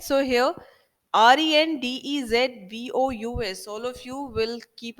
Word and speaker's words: rendezvous: equipment rendezvous means meeting place right so here r e n d e z v o u s all of you will keep a note of this word it is pronounced as rendezvous now mr dutta i will